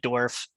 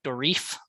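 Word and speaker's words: Dourif: uh Brad dwarf um that's how you pronounce his name right dwarf dwarf I have said it like The Reef um before and I I think I corrected them because I've always sort of known as dwarf you know and I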